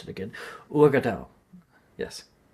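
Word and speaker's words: Uagadou: Oh, how do you pronounce it again? Urgadao.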